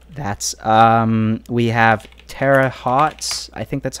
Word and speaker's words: Terre Haute: We have Terre Haute, I think that's how you pronounce it.